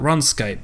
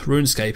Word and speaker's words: RuneScape: wanted to check out runscape runescape even i keep saying it wrong i kind of mentioned